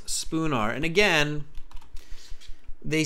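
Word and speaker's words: Spoonar: he says it twice spoon r s p o o n a r spelled with an a right yes so not Spooner but spoon R Street okay the city's Liverpool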